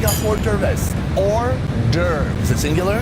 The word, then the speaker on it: hors d'oeuvres: Like a hors d'oeuvres. Hors d'oeuvres. Is it singular? There is an S, but the S is silent.